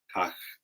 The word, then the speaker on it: Kahk: So how do you pronounce this? Kahk.